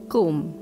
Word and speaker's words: comb: silent letters in English comb B is silent and the word is Kum similarly thumb lamb did